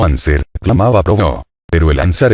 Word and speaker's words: anser: la historia de ansar no se dice ansar sino anser clamaba plomo pero el